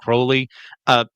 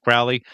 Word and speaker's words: Crowley: going to be saying Crowley. Both pronunciations are correct as far as I know. I'm not trying to be pedantic when I say Crowley instead of Crowley.